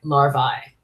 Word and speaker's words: larvae: And in Latin, we pronounce that ending as in long I sound. Bursae, larvae.